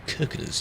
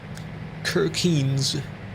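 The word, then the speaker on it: Kirkenes: Road the busy road is kirkas yes we say it like that it's not actually said like that Kiren very top of Norway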